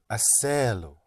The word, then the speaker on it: hacerlo: Yes, but don't give me two pushes. Only one. Hacerlo.